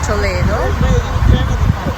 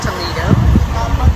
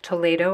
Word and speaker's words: Toledo: is the city of Toledo it's not pronounced Toledo Spanish e is pronounced a so it's poo and